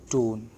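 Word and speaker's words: don't: डोंट नहीं लिखते, याद रखना, हम लिख रहे हैं डोन, राइट।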